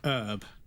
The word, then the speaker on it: herb: Now in America you pronounce it herb, but in the UK we pronounce it herb because it has a fucking H in it.